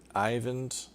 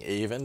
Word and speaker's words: Eyvind: is that Iver and Ivan's whose name I'm kind of realizing I should probably have been pronouncing Eyvind all this time even that I ever has an eye and even Ivan has